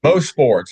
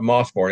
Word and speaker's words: Mosport: Most sports. It was everybody call it Mosport, Mosport, but it was most sport was the proper pronunciation.